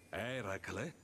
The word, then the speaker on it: Eracle: Eracle? Sì, quello. È così che si dovrebbe pronunciare.